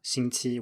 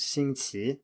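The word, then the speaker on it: 星期: pronunciation in mainland China, 星期 with 2 first tones. But in Taiwan, the standard pronunciation is 星期 with a rising tone on the second syllable.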